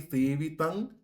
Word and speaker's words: সেবিতং: এখানে ভূতগণাদি সেবিতং শেষে আছে অনুস্বার, পরের অক্ষর কি? ক। এবার আমরা জানি কি ক বর্গের পঞ্চম বর্গীয় অক্ষর হলো উ, তাই এখানে অনুস্বারের উচ্চারণ হবে উ এর মতো।